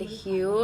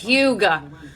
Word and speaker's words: Hue: liner in the shade Hue I was literally pronouncing this Huga I'm just I'm such